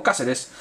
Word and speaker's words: Cáceres: Tercera edición, Cáceres, Santiago Cáceres, no es que diga Cáceres porque lo estoy pronunciando mal, es porque tiene una S, no lleva una C como estamos acostumbrados, ¿no? Es Santiago Cáceres, procedente de Vélez Sarsfield.